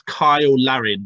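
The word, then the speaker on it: Cyle Larin: I think it's Kyle Larin, but spelt with a C.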